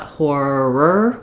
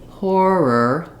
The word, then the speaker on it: horror: We don't want horror with a strong but we still need that tight back tongue. It's still the same sound. Also notice that as I was saying horror, that R links the syllables together. So I don't really want horror. That's not going to sound natural or be easy to say in fluent speech.